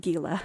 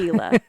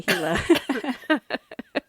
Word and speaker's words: Gila: which are terrif by the way it's not Gila it is not Gila it's heila it's pronounced g i l a Chila heila monster sorry on behalf of all arizonans please say hila oh but yeah it's it's a fascinating I've